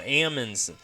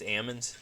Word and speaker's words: almonds: cool we're talking about Ammons did y'all know that that's the the correct way to pronounce almonds is Ammons the L is silent and it's just it's